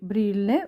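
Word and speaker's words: Brille: Пишемо бриле. Вимовляємо бриле. Наголос на перший склад іде зона обгиля д.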